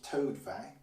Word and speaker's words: Tostevin: So Gallion is pronounced Gaillon, Langley is pronounced Logier, Le Pele is Pelai, Keripel is Cheripe, Tostevin is Toadvin, Jihan is Chon, Le Cheminot is Chminat, and Blondel is Biande.